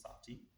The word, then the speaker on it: sati: So again, coming back to sati. Sati is quite easy to remember, just 2 syllables, sati.